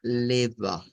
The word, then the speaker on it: leva: Entonces, esto va a sonar a leva, leva. Es el sonido que vamos a utilizar. Vamos a ponerlo por acá. Ahí estaríamos. Y ya que nos apareció, debemos mencionar qué es esto. Esto es una E abierta.